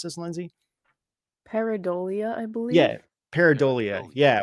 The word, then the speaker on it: pareidolia: How do you pronounce this, Lindsay? Pareidolia, I believe.